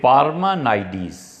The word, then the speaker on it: پارمانائیڈس: کا ایک معاصر تھا، مختلف طرح پہ اس سے پڑھا گیا ہے کہ اس کا نام کیا تھا، اور ایک تلفظ اس میں سے یہ ہے کہ پارمانائیڈس۔ یہ پارمانائیڈس جو تھا